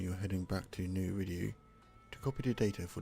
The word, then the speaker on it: Eridu: how you say it, Eridu.